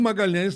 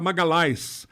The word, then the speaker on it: Magalhães: Sidney de Magalhães e o Magalhães na Itália não é pronunciado LH não existe então era Magali a Magali esmagá-las não existe nada